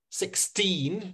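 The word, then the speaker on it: sixteen: so so it's very like 16 and 60. so 16 16 I'm hitting the team and 60 I'm hitting the six so they've both got two syllables in them 16 1 6.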